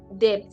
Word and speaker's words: debt: For some people, their own is debt. They say there's the B is silent.